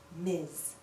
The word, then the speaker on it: Ms: last name of an unmarried woman listen miss miz we can also use miss alone we can